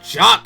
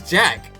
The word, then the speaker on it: Jock: So aside from you needing to switch back, it's pronounced— oh, Jock Sportsman! Oh, I thought it was Jack!